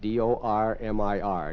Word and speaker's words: dormir: D O R M I R. Did you get that little trill when Konita pronounces it?